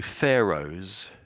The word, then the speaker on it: pharaohs: So, so I know the the H you could say is silent, but it's it's really the O together make this O sound.